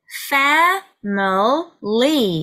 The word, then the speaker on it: family: 자, 이 단어는 family 이렇게 해서 3음절짜리 단어인데요. 요것도 family 이렇게 발음하면 다다다 다다다의 느낌이 나기 때문에 강세 음절을 조금 늘려줍니다. 강세가 A에 있기 때문에 에 모음을 조금 길게 해주시는데요.